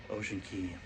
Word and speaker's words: Ocean Cay: really great morning uh at Ocean Key that's ocean he always say ocean ocean K but because that's how it's spelled got off the ship